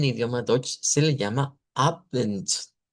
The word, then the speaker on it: Abend: A eso en idioma Deutsch se le llama Abend, Abend. Y miren, termina con D, pero se pronuncia con T.